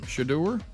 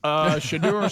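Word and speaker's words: Shedeur: Shadur? That's his name. Okay. Thanks, Dad. Shadur Sanders to an NIL deal, and I didn't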